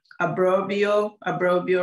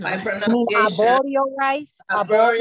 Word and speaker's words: Arborio: is a special rice, abrobio rice. If somebody can correct my pronunciation. Arborio rice. Yes, that's how you say it.